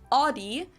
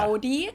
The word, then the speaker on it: Audi: Most Americans that I know Audi. pronounce it like I just said it, Audi. In German, we say Audi. Yeah. Audi.